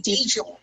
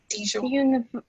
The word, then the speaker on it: Dijon: Dijon, like the mustard, Dijon.